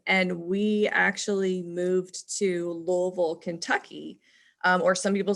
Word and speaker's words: Louisville: first grade um and we actually moved to louisville kentucky or some people say louisville when i lived there i swear to god everyone called it louisville yeah am i saying it wrong i am